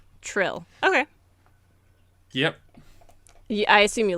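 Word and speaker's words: Trylle: pronounce it true true so I used to I used to just say like in my head Tyle but Trill okay yep I assume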